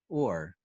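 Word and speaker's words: אור: In Hebrew, the Hebrew word for skin, or, sounds identical to the word for light, or. The only variance is that they each have a different silent letter.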